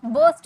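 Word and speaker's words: burst: फोड़ दो, बर्स्ट इट आउट। इसे आर साइलेंट होता है, बर्स्ट बोलते हैं, बर्स्ट नहीं बोलते हैं, बर्स्ट इट आउट।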